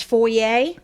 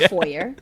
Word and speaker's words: foyer: So what we have here, it's the entrance where it says foyer or foyer, depending on how you prefer to pronounce that word.